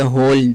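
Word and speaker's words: whole: यानी don't just be on mobile for द होल डे। इसमें होल में W silent रहेगा।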